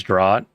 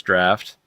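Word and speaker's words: draught: I know it says drought like I would I would I I called it drought back in the days but I'm pretty sure it's draft. It's how like it's supposed to be pronounced.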